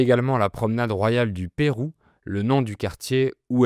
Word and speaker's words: Peyrou: On crée également la promenade royale du Pérou, le nom du quartier où elle est. C'est la même prononciation que le Pérou, le pays d'Amérique du Sud.